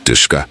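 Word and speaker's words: DShK: Dishka, pronounced Dishka.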